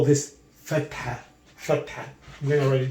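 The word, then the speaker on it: فتحة: If I put this on top, we call this fatha. I'm going to write it down here. Fatha.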